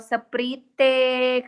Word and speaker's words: Sprite: Mana Tulisannya ada Sprite? Sprite. Tulisannya Sprite Iya, loh, nggak Pina. pandai baca. Bukan nggak pandai baca, Pina. Nggak boleh seperti itu. Memang benar, tulisannya Sprite, tapi dibacanya Sprite.